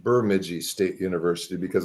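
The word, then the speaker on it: Bemidji: local around here you know that it is pronounced burmi State University because it's way up in northern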